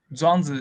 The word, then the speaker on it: Zhuangzi: Eu não sei pronunciar o nome dele, Zhuangzi? Zhuangzi, isso.